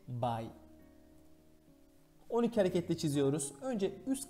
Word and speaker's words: 買: Kaimas, kao. Çincis okunuşu, bai.